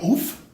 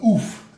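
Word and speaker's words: ouphe: Kitchen Finks is an, I don't really know how to explain how to say the creature type, but it's like a oof. I believe it looks like oof. It's spelled O-U-P-H-E, and it costs 2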